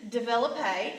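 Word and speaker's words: développé: our English words develop we're just gonna put an extra P and then the e with the accent so we have that a sound at the end develop a and I did that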